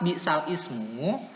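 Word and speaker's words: بِئْسَ الِاسْمُ: Lafadz bi'sal ismu selanjutnya dibaca nakal dengan bi'salismu ya. Tulisannya kan bi'sal ismu ya kan. Tulisannya tuh di Al-Qur'an bi'sal ismu, tapi harus dibaca nakal, yaitu bacanya jadi gimana? Bi'salismu. Bi'salismu ya. Memindahkan harokat ya.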